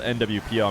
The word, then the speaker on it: Nwpo: I know that I was told the P sound doesn't really exist in Arabic, and it's not so much in... I'm inserting the vowel. His name is spelled Nwpo. I'm kind of inserting an E. Sounds like people say it's more like an O, Nwpo.